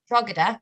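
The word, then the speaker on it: Drogheda: the beginning you're from drugada did i say that right it's like a slightly silent g slightly silent g i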